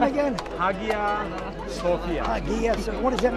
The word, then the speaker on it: Hagia Sophia: Hagia Sophia.